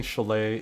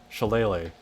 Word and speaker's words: shillelagh: You are pronouncing chalet incorrectly. You are leaving off the last syllable. Shillelagh.